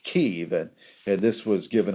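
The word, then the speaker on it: Kyiv: And by the way, just so you know, it's it's not pronounced Kiev, it's pronounced Kev.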